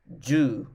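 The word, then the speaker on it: jū: u u q and the last one is ju j-u-u so counting in japanese we can count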